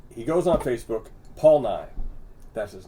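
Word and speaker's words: Nigh: Paul Nye's same last name as Bill Nye. M-I-E. Wow. Yeah, N-I-G-H. Oh, N-I-G-H. Okay, got it. Okay. Paul Nye. But same pronunciation.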